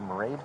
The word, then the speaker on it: Mairead: She said Mairead, like parade.